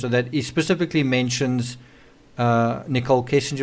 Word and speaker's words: Nichol: He specifically mentions Nichol Kessinger, although her name's spelled with an E, and it's actually Nichol.